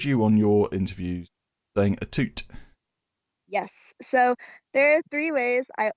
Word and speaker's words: Atout: it as a twos apparently there's some like French background to it some somewhere deep down